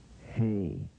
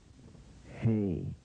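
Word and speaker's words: ה: to the pronunciation pronunciation hey hey pronounce it say it there's a few seconds in between that where you can pronounce it also H sound as in Horn and hat say it with me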